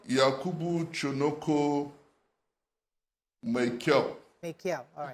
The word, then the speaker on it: Maikyau: yes, would you permit me to correct the way you pronounce that name? Maikyau. Maikyau. It's Maikyau. Yakubu Maikyau.